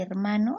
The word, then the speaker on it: hermano: hermano en este caso la palabra y hermano a pesar de que tiene la h tiene un sonido mudo si nosotros pronunciamos hermano la h no suena por lo tanto aquí